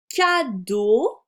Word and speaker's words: cadeau: Ratus est content, le T est muet, du cadeau, je rappelle que EAU se prononce O, qui est dans la caisse.